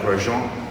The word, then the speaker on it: Grogan: going to call this work the shroud of grosjean how is that is the correct way to pronounce my last name but uh i thought